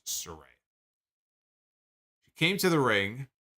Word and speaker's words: Saraya: tonight that the proper way to say her name is Soraya it's not Soraya it is Surrey it came to the